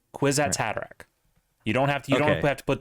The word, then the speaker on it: Kwisatz Haderach: No, it's Quiz at Kwisatz had a rack. Kwisatz Haderach.